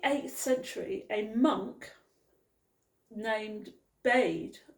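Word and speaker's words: Bede: Century a monk named bade I think that's how you pronounce it it said b-e-d-e that is how it's spelled now he was English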